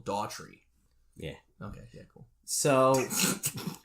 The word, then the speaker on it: Dougherty: We're going to get we found out that his name's actually pronounced Michael Daughtry.